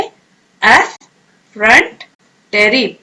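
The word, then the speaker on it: effrontery: एफरेंटरी आप प्रोनाउंस करें, एफ फ्रंट टेरी।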